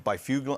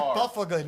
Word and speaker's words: Byfuglien: Byfuglien. I always say his name. It's Byfuglien. It's Byfuglien. I always want to call him. Look at his name. It's like Byfuglien.